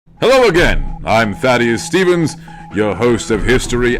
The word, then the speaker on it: Thaddeus: Hello, thankless. It's pronounced Thaddeus, thank you.